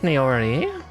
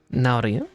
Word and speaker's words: Naori: I should pronounce it correctly if I'm going to do Japanese. Because it's not N-A-E, it's just N-A-O. Naori.